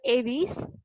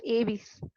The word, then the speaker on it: Aves: And coming to the next one இஸ் த ஏவிஸ். ஸோ you should pronounce this ஆஸ் ஏவிஸ். இது வந்து எப்படி pronounce பண்ணணும் அப்படின்னு பாத்தீங்கன்னா ஏவிஸ் தான் ப்ரொனவுன்ஸ் பண்ணணும், ஏவ்ஸ் கிடையாது.